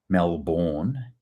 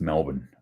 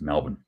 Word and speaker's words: Melbourne: International uh viewers here it's not Melbourne it's Melbourne I grew up there and I can tell you it's pronounced Melbourne like bun Melbourne all right anyway um